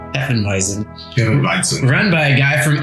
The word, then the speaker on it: Hefeweizen: We're a West Texas-themed brewery making a German-style, how do you pronounce that? Hefeweizen? Hefeweizen.